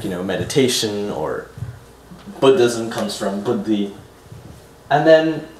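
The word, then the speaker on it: बुद्धि: Booty is special because, like you were saying, that word would be pronounced buddhi. And so just like Buddha with a DDH, buddhi and Buddha are two related words. Unlike Bodhi, Bodhi has just one DH.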